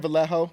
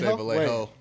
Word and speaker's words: Vallejo: see I see so it's more like the a the two L's next to each other for the Y valo so from Val